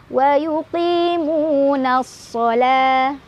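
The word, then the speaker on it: وَيُقِيمُونَ الصَّلَاةَ: Ada alif lam syamsiyah karena ada alif lam bertemu huruf syamsiyah yaitu shad. Cara bacanya masukkan langsung ke huruf shad, alif lamnya nggak usah dibaca. Wa yuqimunas shalah.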